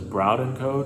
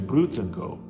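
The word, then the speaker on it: Brauð & Co.: I said it was Braudenko just because the way it's spelled, that's the way I would say it. But I found out from someone during the exhibition who is very familiar with that bakery, it's actually Brutenko. So yeah, that's how you say it.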